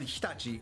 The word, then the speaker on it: Hitachi: It's going to be the best machines that you can get, and then Hitachi will be the other one. Once again, pronounced incorrectly by everybody here in America.